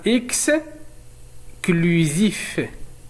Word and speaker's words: exclusif: لدينا نفس الشيء هنا exclusif exclusif. إذا كان لدينا C وأمامه حرف L فإنه ينطق بكل وليس سل.